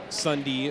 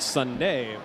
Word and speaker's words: Sundee: This Sundee pronounces it with a hard E, unlike my buddy who pronounces it Sunday.